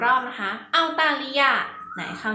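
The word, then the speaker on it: 澳大利亚: ว่า อะไร นะ คะ ภาษา จีน ออก เสียง ว่า เอา ตา ลี ยา ฟัง อีก 1 รอบ นะ คะ เอา ตา ริ ยา ไหน คราว นี้ เด็ก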